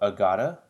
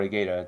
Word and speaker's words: Agata: So actually we got a rerun of the debut banner of Agata, yeah, or Agata, depending on how you're gonna pronounce her name.